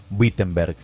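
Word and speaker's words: Wittenberg: de la iglesia en Wittenenberg, Alemania. Whtenberg. pronunciado en alemán.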